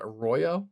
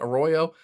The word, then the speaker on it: Arroyo: They took the really talented tight end out of Miami, Elijah Arroyo, I believe is how you pronounce that, Arroyo.